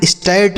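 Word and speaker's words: start: आर से र और टी से ट लिखा स्टार्ट, इसे हम स्टार्ट नहीं स्टार्ट पढ़ेंगे।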